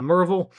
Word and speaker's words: Murrayville: It's it's really almost in Murrayville or if you're local a Murville. Uh if you're not local, just remove like four random letters from Murrayville and that's how you pronounce it.